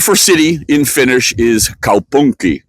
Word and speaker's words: kaupunki: The word for city in Finnish is kaupunki, right? And you have to say it like you're from Finland, right? Kaupunki.